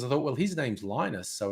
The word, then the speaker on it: Linus: no but his name is l his name's l i n u s and that's pronounced linus so l i n u x